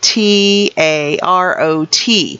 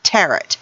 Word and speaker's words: tarot: is that uh tarot t a r o t is not pronounced in a way that rhymes with carrot it's not taret so don't go into